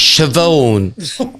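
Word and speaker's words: Siobhan: ourselves and and I do you know how Shon is spelled c c o b loads of letters anyway so I just said can I speak toan and she goes it's Shon I went can I speak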